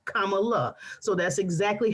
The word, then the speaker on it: Kamala: her name correctly and she said think of it like you would think the comma in a sentence like a period so she said comma kamala so that's exactly how